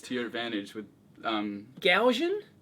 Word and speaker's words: GaN: your advantage with um Gan is that how you pronounce it I I've only read it gan gan gan is how I have always pronounced it Gan only read it